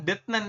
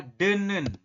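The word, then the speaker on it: 듣는: menjadi n ini ya Jadi dibacanya bukan detnen ini kan detnen ya tapi dibacanya adalah denen seperti ini denen ya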